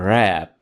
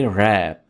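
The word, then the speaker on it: wrap: लपेटने की इंग्लिश है रैप। रैप। इसमें आपने डब्ल्यू को साइलेंट रखना है और वर्ड को पढ़ेंगे रैप रैप आई रैप्ड a gift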